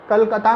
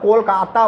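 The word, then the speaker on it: Kolkata: जो नई खुली है, कलकत्ता में खुली है, कोलकाता बोलते हैं उसको, कैलकाटा पहले बोलते थे, CALCUTT है, अब कोलकाता बोलते हैं, राइट। इसकी प्रोनाउंसिएशन भी बंगाली में ही होती है, कोलकाता।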